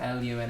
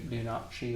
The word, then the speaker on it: Lunacci: uh it's it's spelled really weird it's like l u n a CCI but it's pronounced Lun but some people pronounce it l lunari or lunaki or but it's Lun not us we say